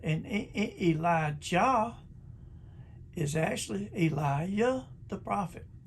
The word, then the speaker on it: Elijah: that's elijah and hallelujah hallelujah sounds funny it's pronounced elijah and hallelujah now psalm 68 4 king james